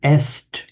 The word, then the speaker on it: est: It's one that's actually cognate with the Latin est is, and in French, written the same way, est but pronounced e, the Spanish es.